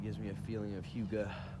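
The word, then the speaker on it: hygge: It gives me a feeling of Hyuga, which is a Danish word for like Hyuga. It's spelled weird.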